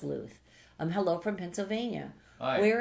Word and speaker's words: Louth: Callum McNamara says, I'm from Louth, Ireland. It might be Louth. Oh, yeah. It's spelled like mouth. But I feel it's Louth.